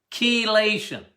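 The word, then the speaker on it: chelation: take it as um kation what is kation Key C not K we but you you pronounce it with a K kation I like EDTA as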